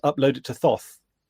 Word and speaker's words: Thoth: So, Th is it is it is it spelled Thoth pronounced Toth like Anubis?